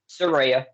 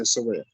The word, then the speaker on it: Saraya: Maybe Saraya isn't, or Saraya or Saraya. Which one am I saying? Saraya. She corrected us on Twitter. I said it right the time. So yeah, Saraya.